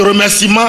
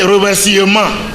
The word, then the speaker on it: remerciement: Il y en a qui pensent que quand on dit par exemple déploiement, il faut dire déploiement. Quand on dit remerciement, on dit remerciement. Même les grandes personnes, c'est malheureux. Parce qu'il y a le E, il veut prononcer le E. On peut prononcer le E, des remerciements, déploiement, éternuement, et ainsi de suite. Le E est avalé, Donc il y a